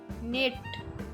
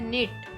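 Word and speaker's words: knit: निट, बुनना। यहाँ पर भी के साइलेंट है और वर्ड है निट, बुनना।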